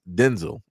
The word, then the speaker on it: Denzel: Washington is not pronounced Denzel Washington. is pronounced Denzel, which is crazy. Never knew that up until Denzel Washington say that uh said that. It was just for the longest time he just didn't correct people. But his correct pronunciation of his name is Denzel.